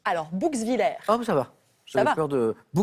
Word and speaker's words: Bouxwiller: Comment je prononce? Alors, Bouxwiller, Ah, ça va.